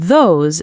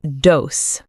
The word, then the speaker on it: those: These and those start with a soft TH sound, Your tongue comes slightly between your teeth. not D's and dose. No, not dis and that. Say it clearly.